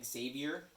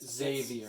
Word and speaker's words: Xavier: on save your fans there's no z in there since dave you are